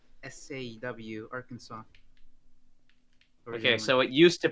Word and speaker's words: Arkansas: arkansas art arkan pronunciation arkansas as having the final s be silent as it would be in french a lot of dispute